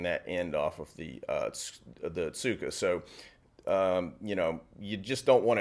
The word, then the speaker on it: tsuka: The tsuka, or often pronounced ska, is the handle.